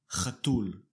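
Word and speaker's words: חתול: In Hebrew, a male cat is called chatul. Chatul. Notice that the stress is on the last syllable.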